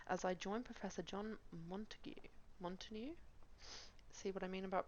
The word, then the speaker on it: Montague: Montague, good.